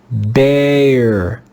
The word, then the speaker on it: bear: This time, the digraph will make the sound of the long A. A, A. Let's read this word together. Bear, bear, bear. Here, the digraph EA makes the sound A, A.